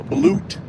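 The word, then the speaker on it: balut: Hey Yeah, since I'm down this way, I probably stop and like I was saying, and uh get some more uh blute, which are duck eggs.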